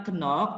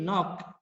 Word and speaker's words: knock: Bacanya bukan kenok tapi knock. Ya, itu ya, knock.